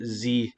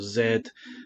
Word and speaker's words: Z: Gods magic Pockets the chaos Engine 2 and z or Zed have you want to pronounce it one noticeable absence from this is